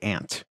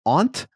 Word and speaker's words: aunt: Now, here in the great state of Ohio, we say ant. Now, and I say ant as well. Yeah. Now, Suncar, you being a little more East Coast-y, a little bit more Northeast-y, I know you probably say aunt, and I would just like to say that phonetically speaking, you're correct. A-U-N-T really should be pronounced aunt.